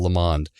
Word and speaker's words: Lamond: Yes, I made sure to get his name right this time because it rhymes with pond, Bill Lamond.